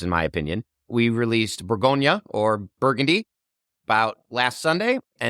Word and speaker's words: Bourgogne: We released Bourgogne, or Burgundy, about last Sunday.